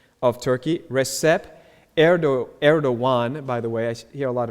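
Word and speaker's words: Erdoğan: that I know but all the letters are very different from our letters so that Gan is actually air dawuan he's the 12th president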